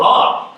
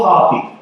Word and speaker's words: Hoppe: So disco please welcome to the stage HOFF. Please say my name. Hoppy.